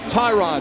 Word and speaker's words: Tyrod: And by the way, it is pronounced Tyrod.